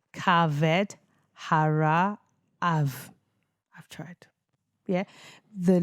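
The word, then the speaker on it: kaved: So that's pronounced caved harve I've tried.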